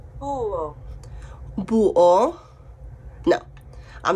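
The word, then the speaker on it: búho: was learning my animals an owl in Spanish was Abu but I wanted to check before I made this video and this is how you pronounce it oh boo oh no I'm not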